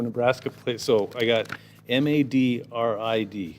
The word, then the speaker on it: Madrid: So I got MADRID. So according to this, it's Madrid. Not Madrid, Madrid.